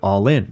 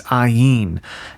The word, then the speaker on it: Ollin: Like, I thought I could get over it because it was like when people read it in English, they read All In. But that's not actually how you pronounce it. It's ayin.